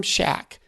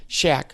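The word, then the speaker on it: Shadyac: operating manual by Tom Shaq Shaq Shaq is spelled Sh aya C life's operating manual by Tom Scheck super powerful book and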